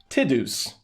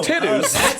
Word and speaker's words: Tidus: i'm going to actually be the first to say his name uh correctly tidus tidus um so titus i'm sorry 20 years we've been saying right yeah i think